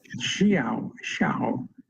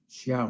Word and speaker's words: Xiao: Xiao, according to my pronunciation coach. Xiao. I think it's all one syllable. Xiao.